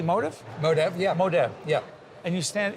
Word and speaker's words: Modev: Modev, yeah.